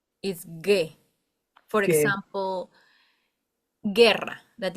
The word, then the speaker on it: guerra: example, guerra, that it's war.